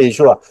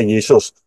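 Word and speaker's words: ישוע: benar yaitu yesua hamasah Yod Shin wau Ayin yesua bacanya yesua Yin W Ayin itu bacanya yesua enggak pernah ada Yin W Ayin dibaca Yesus enggak akan pernah ada ya jadi pintu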